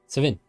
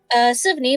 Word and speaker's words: Sivney: Sivin. Is that how you say it, Sivin? Okay. Sivney, but you can just call him Siv.